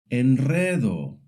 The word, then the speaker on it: enredo: But a single R makes the rolled sound at the beginning of a word, like rosa, which means rose, or after the letter L, N, or S. For example, enredo, which means a mess,